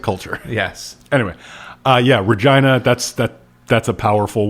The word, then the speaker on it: Regina: Yeah, it it is actually pronounced Regina. And it took me a really long time to realize that. Oh, it's it's a thousand% Regina.